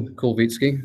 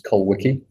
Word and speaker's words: Kolwitsky: Kolwitsky, and that's the correct Polish pronunciation there. It's taken me a long time to convince people that's how to say my name. When I was in high school, it was Kolwicki.